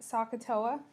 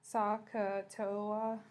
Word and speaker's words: SOHCAHTOA: a tangent is opposite over adjacent so we pronounce that sohcahtoa sohcahtoa and that's how we can use that to